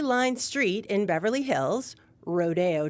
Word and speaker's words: Rodeo Drive: Street in Beverly Hills Rodeo Drive is pronounced differently to Rodeo they're saying it the Spanish way for CBC Radio I'm